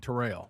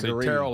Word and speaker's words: Terrell: And so like Greg Terrell Owens, but we all say trail, right?